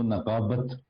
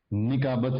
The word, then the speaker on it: نقابت: ہیں۔ فن خطابت و نقابت یہ ہم سیکھ رہے ہیں۔ یہ لفظ آپ نے پراپر اسی طرح سیکھنا ہے، خطابت و نقابت، نکابت نہیں ہوتا اور خطابت نہیں ہوتا، کیونکہ تلفظ بہت ضروری